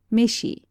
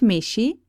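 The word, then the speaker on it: めし: In answer to his question, he is told that the rice on the table is called meshi. All vowels, it should be remarked, have the continental pronunciation.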